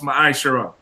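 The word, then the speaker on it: מעשר: In the Hebrew, it is pronounced ma'ashara.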